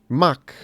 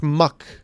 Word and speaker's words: Mach: By the way, for people keep thinking I'm saying Muck Punch whenever I say Mach Punch. No, that's how you pronounce this word in I guess British English, Australian English. Mach. Not Muck.